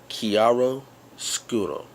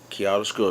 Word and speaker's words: chiaroscuro: that word is but that term is kiaro skuro okay kiaro scuro now how it's spelled c h i a r o s c u r o okay it's an Italian word with a Latin origin the word actually comes